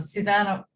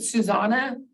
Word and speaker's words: Susana: the funds but um Susanna sus tell me how you pronounce your name a little different I pronounce it Susana but thank you I